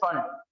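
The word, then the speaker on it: Pfund: Most of them say P fund, but it is just fund. P is silent here.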